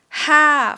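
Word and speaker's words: ห้า: let's take a look at number five first ha falling tone ha ha yeah ha this one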